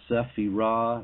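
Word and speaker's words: צפירה: It's pronounced sephirah in the Hebrew.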